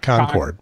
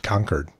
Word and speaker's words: Concord: by Charlotte there's um Concord konkwon or not Concord but conquered conquered yep so conquer yeah it's people like their local pronunciations I'm glad I'd live